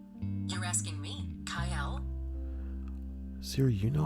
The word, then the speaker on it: Cyael: You're asking me, Kael?